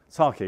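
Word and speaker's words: psake: other questions is that sake yeah yeah well they they for some reason they decided to get rid of the P for for pronunciation it actually says on their website drop the P sake and that's why it's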